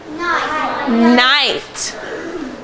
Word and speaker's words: knight: see if anyone remembers, what sound does KN make? It makes the sound. Let's read some words quickly that have the sound spelled K-N. Now, everybody read this one to me. Night.